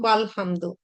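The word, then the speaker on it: والحمد: এখানে ওয়া শব্দটা এসছে, যখনই শব্দের শুরুতে আমি ওয়া বসাচ্ছি তখন আর এই যে আলিফ মাঝখানে যে মানে আলিফ আছে বা হামজাতুল ওয়াসাল আছে এটার আর উচ্চারণ করা লাগে না, মানে উচ্চারণ করা যায় না। তখন এই ওয়াটা হচ্ছে লামকে ধরে নেয়, এই জন্য আমরা বলি ওয়াল হামদু।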